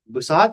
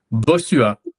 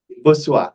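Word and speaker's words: Bossuat: author of Lattigo, Jean-Michel, uh, Jean-Philippe, uh, Okay, Boussat, how do you say his name, Mark? Do you know? Boussuat. Boussuat, okay.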